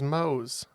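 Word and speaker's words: Mohs: it's uh it is Mo's yeah it's spelled m o HS but it is the mo scale it's not the family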